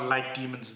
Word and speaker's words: Litemons: demons well I think they call light demons they spell it's spelled like imans but I think that's just to avoid sort of branding issues but I think it's a light demon LED light um so that's